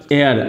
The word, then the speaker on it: heir: और इसके साथ एक अगर हेयर की बात करते हैं HEIR एयर, और इसका एग्जैक्ट प्रोनाउंसिएशन एयर होता है, जो एच है साइलेंट होता है।